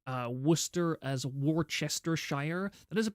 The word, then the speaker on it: Worcester: like Google Warchester source or Warchester Shire as in that's how you spell it and then ask them to say that name. If they say Warchester Shire instead of Worcester, they are a fake Brit and you should kill them immediately.